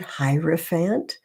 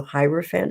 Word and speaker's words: Hierophant: That is how you say that word, Hierophant. You can look it up, and it's really kind of cool because Google will pronounce it for you. So Hierophant is how you pronounce this.